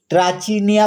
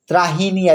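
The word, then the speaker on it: Trachiniae: এন্টিগনে এবং দা ট্রাচিনিয়া গ্রিকরা অবশ্য এই ট্রাচিনিয়া উচ্চারণ না করে ত্রাহিনিয়া উচ্চারণ করে আর তার সপ্তম যে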